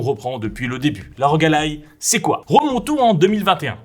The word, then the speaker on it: ROG Ally: Ouais, ça se prononce ROG Ally.